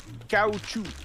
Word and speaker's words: caoutchouc: Do you know how to say the word rubber in French? This one's crazy. You ready? Rubber. Rubber. Yeah, I knew it. Caoutchouc.